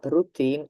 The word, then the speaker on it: routine: French originally French anyway it is pronounced like in English and I know that